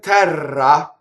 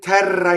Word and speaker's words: terra: This line, in terra in ciel sarà, it's that bouncy and beautiful and bright and also dark at the same time. In terra in ciel sarà. Okay, so notice terra, rolled R, in ciel.